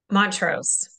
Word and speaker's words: Mont-Ros: do you say your last name for everybody Montrose Montrose okay yes and to clarify I'm married